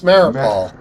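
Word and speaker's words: Mariupol: it's a city wait you know what Bas marol I think it's maripol yeah thank you is that right yes I think I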